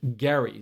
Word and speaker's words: Gerry: governor whose name was Eldridge Gary so hard G it actually should be Gary mandering but H whatever somebody